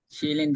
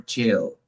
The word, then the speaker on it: child: Child or chill? Child. Child. Child. Child. Child. Some people say chill, but is it chill? No. Child. Child.